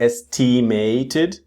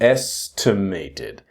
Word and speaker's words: estimated: So notice this estimated it's not estimated but estimated.